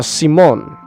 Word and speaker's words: Simon: central core character uh simone uh his name is spelled simon but it's pronounced simone at least in the sub i think the dub also calls it simone i need to go